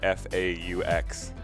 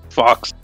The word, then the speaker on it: faux: In fact, we can't even make it to the vocabulary word of the day because he can't pronounce the word F-A-U-X. Fox. Oh? Like the soup? See? Faux.